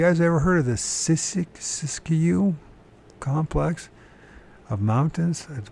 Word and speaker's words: Siskiyou: So if you guys ever heard of the Siskiyou complex of mountains at the point far beyond that which even the Amerids had previously penetrated.